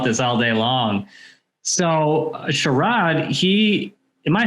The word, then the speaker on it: Sharad: i'll talk about this all day long so sharad he am i saying your name right i